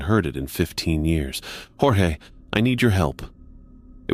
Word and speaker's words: Jorge: The slight gravel, the particular way he pronounced my name with the emphasis on the first syllable.